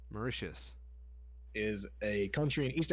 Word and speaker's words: Mauritius: how to say the other one now congratulations mauricious mauritius is a country in east africa coastal had